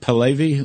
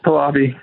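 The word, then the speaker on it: Pahlavi: Palvy. What? Palabi.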